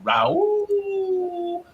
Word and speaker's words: Raul: Raul.